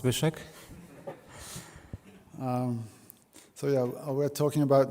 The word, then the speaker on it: Zbyszek: in Polish it's pronounced Zbyszek.